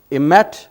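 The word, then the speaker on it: אמת: और इन तीनों को मिलाने से जो लफ्ज़ बनता है वो है सच्चाई, जिसे इब्रानी में इमेट के तौर पर प्रोनाउंस किया जाता है। और अंग्रेज़ी में अगर हम इसे लिखें तो EMET बनता है, जिसका मतलब है ट्रूथ, जिसका मतलब है सच्चाई।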